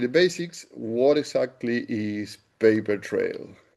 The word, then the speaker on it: pAIpertrail: What exactly is paper trail? Paper trail. Okay. Um, and that's spelled with a AI as opposed to just p a p r. It's p a i p e r.